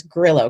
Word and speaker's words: Grillo: the Spanish oh yeah it's actually Italian it's my husband's last name so it's Grillo grid it's hard